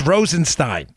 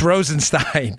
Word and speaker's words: Rosenstein: much I forget your name I'm sorry it's Rosen Stein trust me it's Rosen Stein I know you keep even I've got this from so many B it's Rosen Stein I say it wrong all the thighs rodents